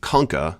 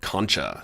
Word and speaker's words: concha: So if you look at the filter that's inside of the human skull, the nasal concha, or concha, it's spelled like conch the shell, shaped like conch the shell too.